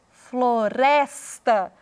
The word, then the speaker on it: floresta: Na palavra floresta, floresta, o res é pronunciado com mais ênfase.